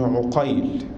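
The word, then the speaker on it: عُقيل: يقول: وإن اتفقت الأسماء خطا ونطقا واختلف الآباء نطقا مع ائتلافهما خطا، كمحمد بن عقيل بفتح العين ومحمد بن عقيل بضمها، أو اتفقت الأسماء خطا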